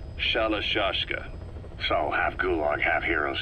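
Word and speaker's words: Shalashaska: the name amongst themselves by the time i got to hearing about it pronunciation had wound up as shalashashka so half gulag half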